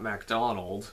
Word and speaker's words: MacDonald: Then the next one was one of the guys I was looking the most forward to seeing, Scott MacDonald. And yes, he said that's how you pronounce it, MacDonald, from things like Jack Frost.